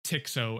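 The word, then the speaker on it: TX-0: of the lab was the tx0 or tick so as a lot of workers at MIT pronounced it this was one of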